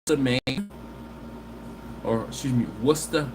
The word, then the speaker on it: Worcester: main or excuse me worcester massachusetts and you have to say it like that okay after going to